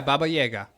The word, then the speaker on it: Baba Yaga: Yeah, Baba Yaga.